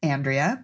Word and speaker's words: Andrea: things you do okay Andrea is my name pronounced Andrea but I do love when Miriam pronounces it with a beautiful European accent I last month I